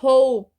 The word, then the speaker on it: hope: vai conectar até porque esse e aqui é mudo tá a gente fala Hope Hope não Hope né Hope né esse e ele é mudo no inglês o som que vai